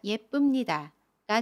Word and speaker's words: 예쁩니다: 예쁩니다는 예쁩니다 라고 발음해요. 받침 비읍을 미음으로 발음합니다.